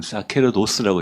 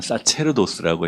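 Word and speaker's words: sacerdos: 지금 그 조광 선생님 말씀을 예를 들면은 곽 교수님은 사케르도스라고 했고 저는 사체르도스라고 했고 이게 제가 하는 게 라티나 스콜라스티카 에클레시아스티카라고 한 거, 이거 클라시카 발음을 하셨던 겁니다.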